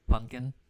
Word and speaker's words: pumpkin: wordplay on here because pumpkin so some people don't actually pronounce the p in pumpkin so but it's funny